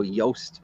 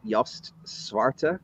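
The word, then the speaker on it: Joost Swarte: uh uh so it you pronounce it like post so yoast yost suarta i think is how you pronounce the name um it's a collection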